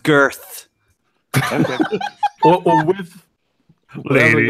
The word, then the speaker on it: Goethe: Gethy? Who's Gethy? Goethe. Who's Yeah. Greta? Greta who? What kind Is of it goat? No. Is it pronounced Goethe or Goethe or none of the above? It's pronounced girth.